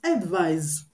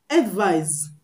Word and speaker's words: advise: is pronounced and the one with s is pronounced advise advise the s is pronounced you get so